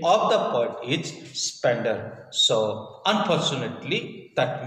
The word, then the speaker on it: Spender: but the real name of the bird is spender so unfortunately that mispronounced anyway let's come so yesterday our sorry